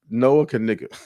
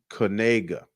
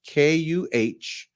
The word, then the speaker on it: Knigga: It's pronounced Kanega. You know how like in the dictionary they have it like sounded out. So how they sounded out, the sounded out spelling is Kuhnayguh, Kanega.